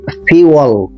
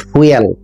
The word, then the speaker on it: fuel: উচ্চারণটা খেয়াল করুন, FUEL, ফিউল, নট ফুয়েল।